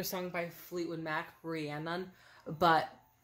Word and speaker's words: Rhiannon: lot of people spell it wrong and a lot of people pronounce it wrong, but it is Rihanna, not Rihanna. It's Rihanna like banana, not Rihanna from Savannah.